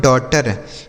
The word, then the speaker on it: daughter: आगे देखिए DAUGHTER, तो DAUGHTER, इसे पढ़ा जाता है बच्चों डॉटर। DAU डॉ, GH साइलेंट होता है, TER को पढ़ेंगे टर।